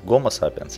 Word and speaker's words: Гомо Сапиенс: Homo sapiens – это по-английски, Гомо Сапиенс – это по-русски, это такая принятая научная традиция, и поэтому это правильно.